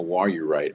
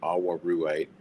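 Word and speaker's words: awaruite: Um including my favorite mineral which is called a warurite or some people might pronounce it awarite and some of you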